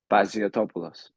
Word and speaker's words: Paziotopoulos: Last name is Paziotopoulos.